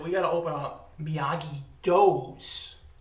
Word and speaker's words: Miyagi-Do: He said, we got to open up Miyagi-Do's, like spelled like dough, like pizza dough.